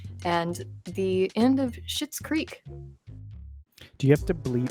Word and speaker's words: Schitt's Creek: We get to keep saying shit because shit in Schitt's Creek is someone's name. It's spelled weird, so it makes it okay.